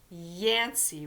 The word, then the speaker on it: Yancey: Yancey, which rhymes with Nancy.